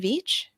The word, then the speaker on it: Veatch: So when we spoke a couple years ago, you were with, and I always pronounce this incorrectly, Black and Veatch. Black and Beach, that's right.